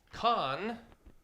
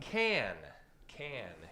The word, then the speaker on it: Cannes: people stumble over uh cans are what you find in a six-pack okay kahn is the bad guy from star trek can can is the city in the south of france famous for its film festival so can um do